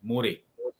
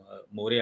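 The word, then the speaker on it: Moreh: आज भी मोरे नाम का जो मणिपुर का आखिरी गांव है, मणिपुर और म्यांमार की बॉर्डर पर जो गांव है मोरे, वो स्पेलिंग होता है MORE, तो उस मोरे गांव में ये आजाद हिंद सेना के की फौज आ चुकी थी।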